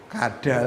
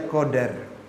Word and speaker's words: qadar: Itu bacanya qadar apa kadar, Pak? Kalau tulisannya qadar bacanya apa? Kadal kadal bacanya qadar sama qadar sama dengan takdir.